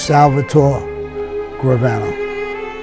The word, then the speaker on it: Salvatore Gravano: Yeah, my name is Salvatore Gravano.